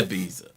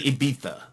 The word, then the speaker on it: Ibiza: say Ibiza, Okay, all right. Ibiza. Ibiza, with the it sounds like a th, I guess.